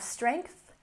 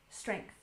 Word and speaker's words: strength: And next we have strength. Don't forget to stick your tongue between your teeth. Strength. Strength.